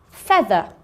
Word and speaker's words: feather: EA says eh. So let's have a look at the vocabulary. The first one is feather. Feather. Bread. Bread. Head. Head. And heavy. Heavy. Okay, so feather, bread, head, heavy. They all make the same sound, air, but they're all spelt with an E-A. We just don't hear the A, just the E.